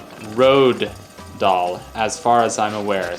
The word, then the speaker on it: Roald Dahl: And for the record, his name is pronounced Roald Dahl, as far as I'm aware. So you don't pronounce the L.